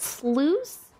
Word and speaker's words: sluice: you need my poultry hello wow nice it's pronounced sluice like juice but with Slough instead of the